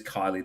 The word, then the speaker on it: Kyllee: young deaf girl in America whose name is Kylie. That is spelled Kyllee.